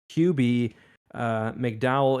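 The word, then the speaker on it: Kube-McDowell: I thought it was Michael Cube or Cube, but Michael QB McDowell.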